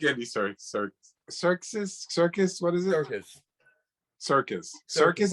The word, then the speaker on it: Serkis: Circus, as in like the Barnum and Bailey Circus. Well, it's not spelled that way, but I know, but it's pronounced that way, Circus.